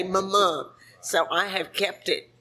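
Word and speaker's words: Mumu: And Lace, Stephanie's oldest child, is the one that spells it the way it's spelled, M-U-M-U, like a moo-moo, but she would say Mama.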